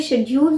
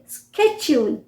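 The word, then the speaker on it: schedule: Actually शेड्यूल जो है ये करेक्ट प्रोनाउंसिएशन नहीं है, शेड्यूल। शेड्यूल जो है ब्रिटिश प्रोनाउंसिएशन है। अमेरिकन्स कैसे बोलेंगे? स्केड्यूल, स्केड्यूल, स्केड्यूल।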